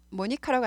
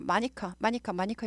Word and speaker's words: Monica: 근데 영어로는 모니카라고 아니고 마니카 이렇게 읽어요.